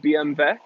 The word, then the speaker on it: BMW: pronounced ova okay well are you gonna pronounce BMW BMV because that's how they do it in Bavaria it's not BMW it's being